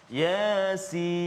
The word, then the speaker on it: Yasin: Jangan ya tu panjang. Yasin. Salah. Ya tu 2 harakat saja. Jangan 2 rakaat. Yasin.